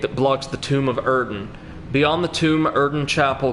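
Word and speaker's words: Oedon: And we get the Erden Tomb Key. Yes, believe it or not, that is how that's pronounced.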